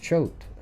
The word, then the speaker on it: Choate: Great, it's pronounced Choate.